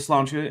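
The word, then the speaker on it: sláinte: are um and yeah I'm going with slancha and not the actual Irish pronunciation because um I don't know how to falize all of those sounds effectively so I'm not gonna try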